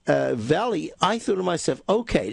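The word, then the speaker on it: Vale: this is in fact Veil Mining Company Portuguese pronunciation is Valley and the full name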